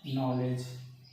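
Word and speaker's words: knowledge: तो ज्ञान का अंग्रेजी होता है नॉलेज। लिखते हैं के से, पढ़ते हैं एन से, के साइलेंट वर्ड है।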